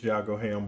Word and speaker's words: Yago Ham: A lot of people have trouble pronouncing it, but it is Yago Ham Barbecue.